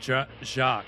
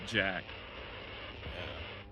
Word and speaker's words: Jacques: The name that means It's the first time I've heard of them say it like almost like Jacques and not Jack.